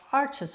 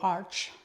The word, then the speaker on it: Arches: And then we have Arches paper, or Arch, depends who you ask. Some people pronounce it one way or the other.